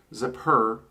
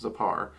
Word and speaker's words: Zepar: the typical correspondence for zappar or it can also be uh pronounced zipper but i hear it most often pronounced zapar um so part is